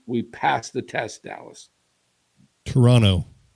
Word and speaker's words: Toronto: Toronto. Very, very good. Toronto. Not Toronto. Toronto. Toronto. Toronto. Toronto, like Geronimo. Geronimo. Toronto. Toronto. Toronto. Okay. We do not want to call them Toronto.